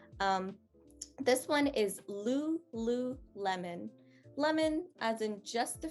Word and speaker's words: lululemon: you'd be more interested in trying this one lululemon perfect so good um this next one i'm